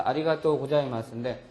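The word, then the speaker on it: ありがとうございます: 근데 이것이 고자이마스가 오기 위해서 이것이 아리가타이의 타가 오바음으로 바뀌면서 우 발음이 생기는 거거든요. 그래서 아리가또 고자이마스인데 이게 형용사일 경우에는 나이라고 하는 조동사가 와서 부정의 의미를 가지려면 이 어미가 어떻게 변해요?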